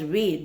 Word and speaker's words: Ved: So the word Ved must be pronounced as Ved, V-E-D, because Ved, when we